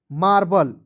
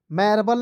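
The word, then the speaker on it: marble: आर बी एल ई मार्बल मैबल नहीं पढ़िए देखिए एम ए आर मार बी एल ई बल क्या हो जाएगा मार्बल उसके बाद देखेंगे एम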